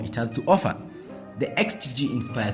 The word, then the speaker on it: X-Tigi: have the xtg Inspire 3 and yes it's pronounced as xtg so you're welcome anyway a couple of months